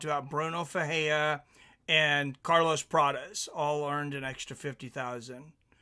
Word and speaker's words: Prates: Okay, yeah, I get confused with the Portuguese sometimes because I wanna say it like it's Spanish and it's different, you know.